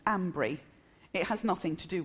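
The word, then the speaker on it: Almondbury: in a place called almond Bree which the locals pronounce Ambry it has nothing to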